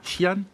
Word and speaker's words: Xi'an: ville, alors je vais peut-être très mal le prononcer, de Xi'an, c'est comme ça qu'on dit, voilà, c'est l'ancienne